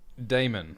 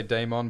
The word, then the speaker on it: Daemon: Damon. We're pronouncing things correctly today. And his descendants. I used to always say Daemon, but now I'm going to say Damon.